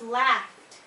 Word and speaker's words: laughed: It becomes laughed, laughed. Okay? So the last pronunciation rule for ED endings is with the pronunciation for id.